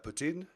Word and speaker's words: poutine: Yeah, poutine. Is that how you say it? Poutine, yeah. It's not poutine like everybody seems to want to call it, because that sounds gross. Putin.